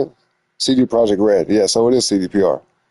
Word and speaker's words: CD Projekt Red: CD Projekt Red.